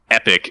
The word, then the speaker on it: epoch: that's referred to as epoch so when you start saying epic in conversation people usually don't know what you're talking about well i don't talk